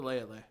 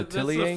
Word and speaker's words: L'Atelier: That's the L'Atelier? French. No. Leia. That's the French pronunciation. Leia, the workshop? Yeah, the workshop of the... I was always told it was L'Atelier. I don't know, Leia. Silent T, bro.